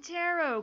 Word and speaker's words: tarot: by starting by pronouncing tarot cards correctly hey now look yet they didn't want me to pronounce the T at the end of tarot they shouldn't have put one there anyways listeners allow me